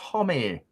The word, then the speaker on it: Homme: everyone hi Sean Josh Josh Homme pronounced homie there we go starting